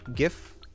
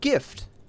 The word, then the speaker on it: GIF: But I mean, it's like gift. GIF. You feel me? Am I wrong here, people? Am I speaking crazy talk? If gift is said like that, then you drop the T and it's GIF.